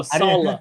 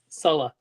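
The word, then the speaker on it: Saleh: Uh Cody would like you to not pronounce uh his name improperly. Sala. I was going to say that, but Oh, Salah. Okay. Salah. Not so sol the former 49er assistant Salah.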